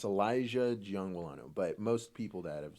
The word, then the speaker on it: Giangualano: how do you say your last name uh Jang wano it's it's Elijah Jang wano but most people that have seen me around